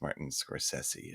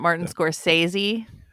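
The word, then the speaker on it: Scorsese: sesi Martin sessi it's Martin soressi apparently it's not Martin scor sey yeah it's it's sesy at the end sesy the s's are pronounced like s's anyways it's it's it's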